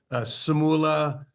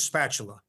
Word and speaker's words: Sapaula: By the way, ever since I was growing up, everybody pronounced my last name wrong. Sapaula. The worst one is spatula.